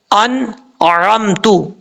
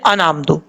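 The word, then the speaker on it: أَنْعَمْتَ: لفظ ہے انعمتو. اب لوگ پڑھتے ہوئے کیا کرتے ہیں؟ انعمتو. انعمتو پڑھیں گے تو غلط ہو جائے گا.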